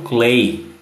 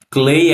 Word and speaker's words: Cley: vivo, vai no TikTok e procura Inglês com Clay. Clay é Cley. E lógico, você pode acompanhar a gravação tanto no YouTube, procurar Inglês com Clay, Livecast, e nas plataformas de distribuição de podcast.